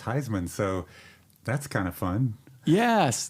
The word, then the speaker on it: Huisman: know it was pronounced Heisman so that's kind of fun yes yes Heisman like the trophy like the trophy yeah